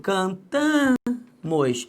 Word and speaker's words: cantamos: E quando eu falo cantamos, a sílaba tônica é o tan.